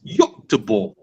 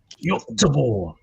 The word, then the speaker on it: Göteborg: The pronunciation for Swedish people is Göteborg. Göteborg.